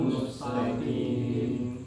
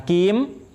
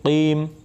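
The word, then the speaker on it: مستقيم: Qaf itu tebal, kuat. Nah, maka bacanya harus tebal dan kuat. Mustaqim. Nah, bukan kim, tapi qim.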